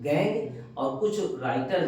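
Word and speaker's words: gangue: इन द ओर इन द ore ores are called are called गैंग गैंग गैंग की spelling देख लीजिए बेटा जी ए एन जी यू ई है गैंग गैंग ठीक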